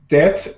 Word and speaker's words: debt: and this Lord actually the B is silent in this or so it's like it doesn't exist oh that's so debt and date ah exactly